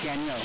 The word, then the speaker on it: Gagnon: at media day, and he told me there's 3 ways you can pronounce it. I don't care. Right. I asked him, what does your mom call your last name? He said Gagnon. I said, well, that's who you are then.